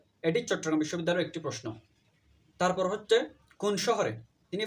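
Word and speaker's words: Paris: সেটা হচ্ছে ইরানের ভাষা আর যে পেরিস আছে পেরিস হচ্ছে ফ্রান্সের রাজধানী পেরিস হচ্ছে ফ্রান্সের রাজধানী এবং একে উদৃত ভাষায় পেরি বলা হয় যদিও আমরা ইংরেজিতে পেরিস বলি কিন্তু ওরা ফ্রান্সের ভাষায় একে পেরি বলে এটা কিন্তু মনে রাখবা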